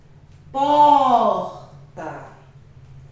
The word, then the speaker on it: porta: Porta, certo? Então, o pó é a sílaba tônica.